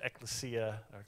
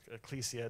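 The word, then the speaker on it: ἐκκλησία: word for church was ekklesia ecclesia depending over you which a pronunciation is and in the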